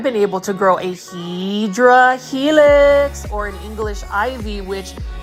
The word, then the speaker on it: Hedera helix: This is another Hydra helix. or Hedera helix. I just like calling Hedera helix, but the correct way to say it is Hedera helix, which is basically in English ivy.